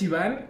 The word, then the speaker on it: Iván: Mi nombre es Iván y se deletrea I-V-A acento N, pero a todos se les olvida el acento y me dicen gordo, mórbido, obeso, pervertido, huele patas.